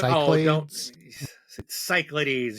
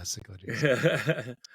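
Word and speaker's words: Cichlids: And um, didn't even know how to pronounce it. I was doing so good. Don't cycles. You know that. No, it's Yeah, cichlides. Cichlides. Um, he's just giving me crap for my Dune.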